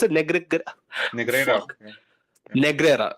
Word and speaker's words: Negreira: How do you pronounce it? Negreira.